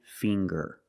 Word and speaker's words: finger: And finger. Finger. We see the nasal sound. M plus the hard G, the G. Fing.